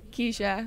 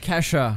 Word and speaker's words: Kesha: Keisha. Who's Keisha? Did I say her name wrong? What's her name? Kesha.